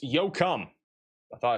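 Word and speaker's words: Yoakum: Yo cum is pronounced yo cum.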